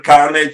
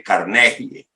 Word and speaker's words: Carnegie: apellido es carnegie Gracias del Carnage se pronuncia pero como la Real Academia de la lengua dice que hay que leerlo tal como está entonces sería darle carnegie gracias de nada Cómo